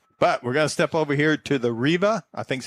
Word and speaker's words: Reva: But, we're going to step over here to the Reva. I think that's how you say it. G Whiz. Reva, like as in Reba McEntire? R V R E V A Oh, Reva.